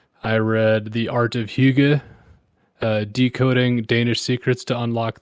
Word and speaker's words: hygge: Like the Hygge is basically just like it's like coziness turned up to 11. Hygge. Yeah, it's spelled Hygge, and it's not a word that we have in America.